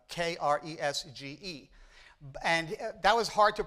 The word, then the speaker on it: Kresge: His real name is Kresge, Kresge. And that was hard to pronounce, so he decided the G sounds like a K anyway.